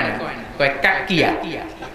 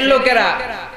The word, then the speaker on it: নৌকা: আছে না নাই পাবনাতে এরা ন উচ্চারণ করতে পারে না পাবনাতে মাহফিল আছে আমার দুইটা থানাতে জায়গায় বলে ল স্লোগান দেয় আমগো লেতার মার্কা সবাই কয় লৌকা লৌকা লৌকা আসলে হবে কি নৌকা এলাকার সংসার আল্লাহ জিহ্বার